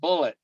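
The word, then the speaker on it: Bullitt: l TT but it it was still bull pronounced bullet but yeah and and the thing about the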